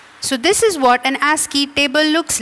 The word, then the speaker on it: ASCII: ASCII stands for the American Standard Code for Information Interchange, better known by its abbreviation ASCII. It is pronounced as ASCII.